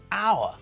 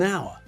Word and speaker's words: hour: vowel not a consonant the word our sounds like it starts with an O not an H so we say an hour not a hour if we're